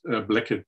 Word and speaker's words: Blackett: of network is this Blackhead Lab family, if I pronounce it correctly. Sorry if I say it in an odd way. That's correct. Thank you for the lovely introduction. So yes, the Blackett Lab family, the name